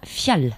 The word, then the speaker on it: Fjall: Pour la nommer, c'est Eva Fial, ça se prononce.